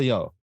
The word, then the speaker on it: Yeoh: It is Michelle Yeoh. You. Oh, I could have pronounced that.